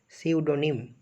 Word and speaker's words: pseudonym: পি এর উচ্চারণ হবে না, PSEUDONYM, সিউডোনিম, পি এর উচ্চারণ উজ্জ্ব থাকবে।